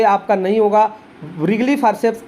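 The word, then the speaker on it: Wrigley: डी है आपका रिगली, इसको रिगली पढ़ते हैं, डब्ल्यू इसका साइलेंट होता है, रिगली फॉर्सेप्स के नाम से जानते हैं।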